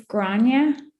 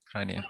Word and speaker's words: Gráinne: It's like awe, like Is it Irish or? Yeah, it's an Irish name.